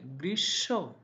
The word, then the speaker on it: গ্রীষ্ম: মধ্যে দেখতে পাচ্ছি গ্রীষ্ম এটার মূল উচ্চারণ কিন্তু গ্রীষ্ম নয় মফলা উচ্চারণ হবে না বরং মফলার কারণে তালিব স্বর তালব্যস্ত উচ্চারণ হবে গ্রীস গ্রীস গ্রীষ্ম নয় গ্রীষ্ম এরপরের যে শব্দটি রয়েছে